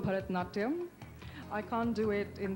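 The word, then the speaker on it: Bharatanatyam: Help me pronounce it and show us a few steps. Well, it's called Bharatnatyam.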